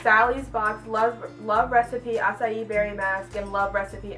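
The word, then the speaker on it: açaí: One is aloe, and this one is acai berry. My mom can never pronounce acai right. Well, she can, but she chooses not to, and she calls it ackee.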